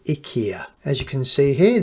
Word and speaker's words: IKEA: change the bulbing an IKEA lamp although I think they actually pronounce it Ika as you can see